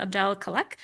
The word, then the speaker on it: Abdel-Khalek: Um, very good pronunciation of my last name.